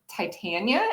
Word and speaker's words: Titania: for fairies and, well, I guess Titania is how the name is traditionally pronounced, but I pronounce mine Titania with a very science background.